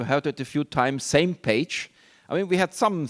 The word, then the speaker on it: SMPAG: it a few times, same page. I mean, we had some thinking about how you would pronounce this acronym, SMPAG, and finally, so we agreed on the name same page.